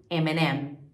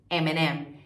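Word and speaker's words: M&M's: tem esse I né MM em inglês and junto Eminem Ok Eminem e Cheetos tiras tirams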